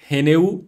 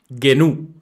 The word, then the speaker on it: GNU: sistema operativo totalmente libre el sistema operativo llamado gnu o genu también se puede pronunciar así genu este esta sigla vienen de